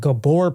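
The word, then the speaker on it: Gabor: I was calling it gabber patches. And I guess I was pronouncing it wrong. It's called Gabbor patches.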